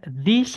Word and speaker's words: these: Memang ini tulisannya I bacanya E, yang tulisannya E bacanya I ya. Misalnya rumah-rumah ini kita bilangnya these houses, orang-orang ini, these people, mobil-mobil ini, these cars, seperti itu.